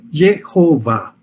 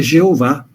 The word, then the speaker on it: Jeová: Por isso, quando na Idade Média se lia as consoantes de uma palavra e as vogais de outra, surgiu o nome Jeová.